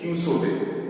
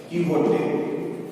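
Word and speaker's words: Don Quixote: डॉन क्विसोटे, क्यूसोटे नहीं, ये गलत है. सही उच्चारण जो है ये होगा, ये जब क्विसोटे है यही हो जाएगा क्यूहोटे, क्यूहोटे, ठीक है?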